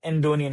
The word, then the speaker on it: Andonian: in agency or working with firms like Gulbenkian Andonian, if I'm pronouncing it right?